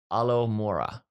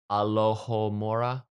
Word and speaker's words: Alohomora: yes moving on uh alomora what did i mispronounce that alohomora that's when alohomora there we go i'm gonna mispronounce